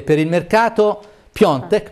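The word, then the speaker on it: Piątek: e per il mercato piontek perché anno ci hanno detto che si pronuncia così diavolo sempre più vicino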